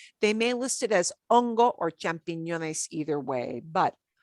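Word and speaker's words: hongo: to as ongo ace we don't pronounce the h so ungo if you see it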